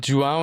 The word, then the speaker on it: João: If you want to learn how to pronounce Jang there are two ways. One is if you're a fan of Star Wars and if you remember the lightsaber the sound that is the sound that you should say.